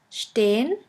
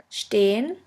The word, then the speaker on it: stehen: The next letter combination is SP, SP, ST, ST, which is pronounced like the letter combination SHP and SHT.